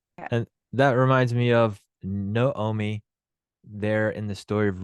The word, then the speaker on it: Naomi: actually a kamatz Katan which gives it the o sound so you have no Omi and yes you're correct